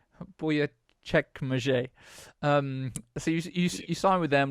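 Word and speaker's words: Büyükçekmece: It's Buyukcekmece. Buyukcekmece.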